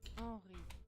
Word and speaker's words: Henri: I know it's supposed to be pronounced Henri.